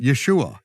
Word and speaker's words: Yeshua: there's no and there's there's no other way to pronounce it Yeshua Yeshua it's written right there with the vowels and I am the